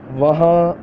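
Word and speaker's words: وہاں: I will tell you how to pronounce. Okay, so let's get started. Go there, वहाँ जाओ, वहाँ जाओ, वहाँ जाओ.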